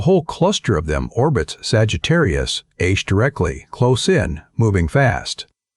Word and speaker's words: Sagittarius A*: They called that source Sagittarius A*. The asterisk is pronounced "star," a small joke among physicists, because it is the one thing in that crowded region that is not a star at all.